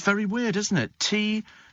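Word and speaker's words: Türkiye: Turkiye. Oh, it's the Turkish pronunciation.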